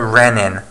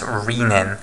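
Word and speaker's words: rennin: are both proteases okay also note this is pronounced a Renan not riemann okay and it's got the double n as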